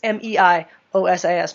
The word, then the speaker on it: meiosis: that process is called meiosis Mei o s i s meiosis it sounds really similar to mitosis so be careful how you say it uh but meiosis